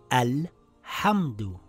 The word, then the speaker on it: الْحَمْدُ: So this word will read Al-Hamdu. I pronounce the Hamzatul Wasl with a vowel.